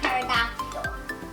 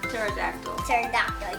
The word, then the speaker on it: pterodactyl: There's Brontosaurus, long leg, and flying pterodactyl. Pterodactyl, you can also call it pterodactyl. But anyway, the P is silent.